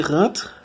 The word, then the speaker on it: rentre: En la primera, la EN se pronuncia como un. Rentre. Porque es rentre y no rentre.